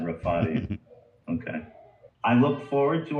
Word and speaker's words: Rafati: Shahrzad Rafati.